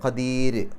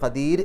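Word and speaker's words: قدير: ര എന്നുള്ള ഉച്ചാരണം കൊടുക്കുക കദീർ കദീർ എന്ന് എന്നുള്ളത് പറയാം പക്ഷേ ഖദീർ എന്നുള്ളതിന് മുൻഗണന കൊടുക്കുക ഇനി അടുത്ത ഭാഗം അടുത്ത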